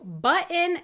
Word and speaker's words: button: What do button, mitten, and certain have in common? They all are words that have one or more Ts that I don't pronounce.